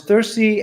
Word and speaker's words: Thursd: I'm Dutch, so I'm not a native English speaker, so I always say thirst.